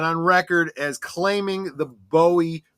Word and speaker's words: Bowie: my pronunciation of David Bowie. I am pronouncing it in the British. I know that he was known as Bowie in the United States. He even has gone on record as claiming the Bowie pronunciation specifically because he